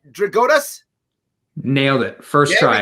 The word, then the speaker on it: Drigotas: up so i don't want to say his name wrong connor's easy bart connor did i get it right dragotas nailed it first try it's incredible dakota's never